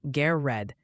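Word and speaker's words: Garrard: Gared County in Kentucky is apparently pronounced G red.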